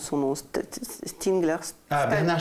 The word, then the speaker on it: Stiegler: dis à la Russe, Bernard, comment tu le prononces son nom? Stigler. Bernard Stiegler.